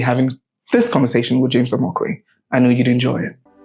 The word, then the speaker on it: Omokwe: And the way people pronounce my name is Omokwe, but the real pronunciation is Omokwe.